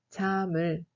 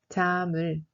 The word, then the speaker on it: 잠을: On prononce 잠을 comme 잠을. 잠을.